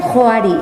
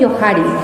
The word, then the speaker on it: Johari: Algunas personas dicen Johari, algunas personas dicen Johari.